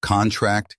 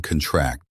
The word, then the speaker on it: contract: Stress on the last syllable is a verb. Examples: contract and contract. The former is a noun, sign this contract, whereas the latter is a verb, the muscles contract.